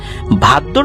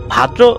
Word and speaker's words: ভাদ্র: ভাদ্র মাসের অর্থাৎ ভাদ্র অনেকে এটাকে ভাদ্রা অমাবস্যা বলে। এটা মানে বিভিন্ন এলাকায় তাদের মত করে উচ্চারণ করে।